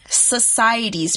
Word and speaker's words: society: Now, some MCs are trying to talk about society's problems in their songs. Society is a noun. It's spelled S-O-C-I-E-T-Y, society. C here is used as the S sound in this word because it's followed by the I.